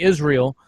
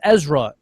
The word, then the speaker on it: Ezra: how to pronounce me they call me Israel Israel no it's Ezra Israel no Ezra two times in my